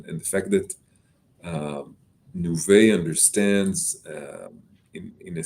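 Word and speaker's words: Nuvei: uh acquired as you mentioned by nouveau it's pronounced nouveau uh yeah canadian company also listed in nasdaq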